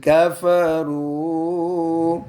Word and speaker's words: كفروا: على الذين आगे जी कफरू كفروا इसमें कौन सा हरफ साइलेंट है बच्चों وألف अलिफ कौन सा है ये जमा जमा का ये हमेशा साइलेंट होता है चलो जी आगे